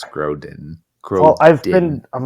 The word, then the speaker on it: Grodin: cute movie and uh you keep saying Groban and it keeps throwing me off I say Groban you've said sorry it's okay I mispronounced it I know it's Charles Grodin well I've been I'm